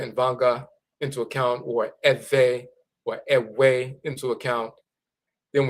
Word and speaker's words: Ewe: The Ewe people, EWE, of Togo and Benin, where this Voodoo comes from, they pronounce their name Ewe, EWE, but some pronounce it Eve, EVE.